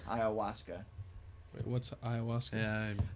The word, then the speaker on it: ayahuasca: be the dmt or the hiawatha something like that i don't think i pronounced that right ayahuasca ayahuasca wait what's ayahuasca it's